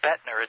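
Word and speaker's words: Boettner: interested in checking that out that last name betner it's a very unusual spelling is it not we should probably spell it for him right and I'll I'll give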